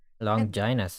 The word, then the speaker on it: Longinus: Yes, apparently that's how you pronounce it. Longinus.